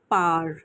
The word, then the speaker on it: Power: हूं जिसका नाम है पार। यस पी ओ डब्ल्यू ई आर। इट is written by Robert Greene. And पार को पावर मैंने इसीलिए नहीं कहा क्योंकि यूजुअली इंग्लिश में डब्ल्यू साइलेंट माना जाता है।